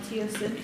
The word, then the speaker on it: teosinte: well it comes from a plant called called teosinte or i think i'm pronouncing that right yeah yeah that's native to